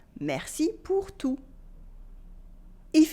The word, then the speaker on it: tout: Merci pour tout with a silent T. Merci pour tout.